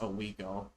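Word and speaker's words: Oswego: I don't think it's pronounced Ago. I think it's pronounced Oiggo. Uh but sadly there's only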